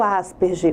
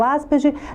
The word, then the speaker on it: Asperger: alto funcionamento e o Asperger. O Asperger tem muitas pessoas que também falam Asperger, né? Porque a forma de pronunciar lá fora é Asperger. E aqui no Brasil é mais usado o termo Asperger.